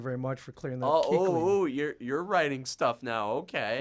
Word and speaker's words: Kuechly: And I was wondering how you pronounce his last name. Thank you very much for clearing that. Kuechly.